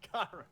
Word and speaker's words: Gyro: Gyro.